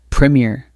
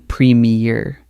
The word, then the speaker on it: Premier: Let's start with the most important word, premier. Many learners make the mistake of saying premier, but in British English, it's slightly different. It's premier, short and crisp with the stress on the first syllable.